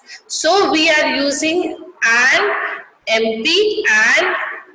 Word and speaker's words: MP: We say MP or an MBA and not a MP or a MBA, because M is pronounced as a EM, which is a vowel sound.